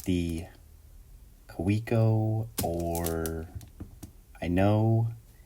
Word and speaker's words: Kaweco: Like, how do you say this brand? Is it KAWECO? Is it KAWECO? It's a German company. I've studied German a lot. So my my semi-professional, not yet fluent opinion is KAWECO. KAWECO. That's my decision on how to say it.